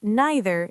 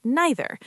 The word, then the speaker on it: neither: Pronunciation either either and neither neither. Both are acceptable.